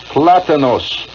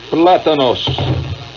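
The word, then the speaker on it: plátanos: right plantains plantains plants how do you pronounce it plantains i'm getting the official quote here from john from san sosi yeah platinus platanos gracias platanos very good gracias muy bien uh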